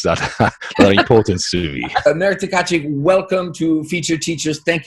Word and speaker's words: Marek Tkaczyk: that's not very often that I hear somebody pronouncing my name correctly. My name is Marek Tkaczyk.